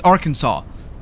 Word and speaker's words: Arkansas: Kansas right it's not it's not Arkansas it's Arkansas but why it's spelled the same why does it change